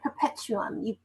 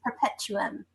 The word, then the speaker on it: perpetuum: and i'm from planet perpetuum you pronounced it incorrectly it's perpetuum my apologies perpetuum yes got it so